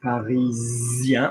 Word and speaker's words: parisien: if I said Parisien, notice that I'm saying Parisien, and I'm now pronouncing the S in a French way, admittedly, but because there's a vowel after it.